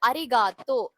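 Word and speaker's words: ありがとう: அரிகாத்தோ. தோ ப்ரொனவுன்ஸ் பண்ணும்போது அந்த ஊ சேர்ந்து ப்ரொனவுன்ஸ் ஆடும். தோன்னு சொல்லும் போது அந்த ஊவும் சேர்ந்து ப்ரொனவுன்ஸ் ஆடும். சோ லிட்டரலி ஊ வந்து சைலண்ட் மாதிரி.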